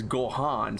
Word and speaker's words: Gohan: in English right but in this case it's Gohan so I can do